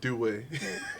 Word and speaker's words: Dweh: His name is Dweh. And did I pronounce that correct? No, Dweh. All right, so let's try again.